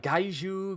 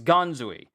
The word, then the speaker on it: Ganzui: I thought it was like Gaiju, Ganjui, but it's it's Ganzui. Ganzui.